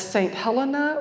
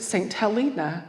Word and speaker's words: St Helena: but I come from an island known as St Helena or some people pronounce it St Helena and I love both ways so St Helena is